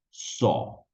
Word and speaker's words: saw: Miren la diferencia las dos primeras es so haciendo una ou so mientras que la tercera es so seca ahí sin ninguna u solamente la o Ok entonces volvamos a